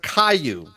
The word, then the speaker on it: Caillou: Oh, Splendid Difference is saying it's pronounced Caillou.